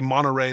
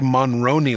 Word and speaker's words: Monroney: one what is a Monterey label no I'm pronouncing that incorrectly what is a monroney label I hope I'm pronouncing that correctly I believe you are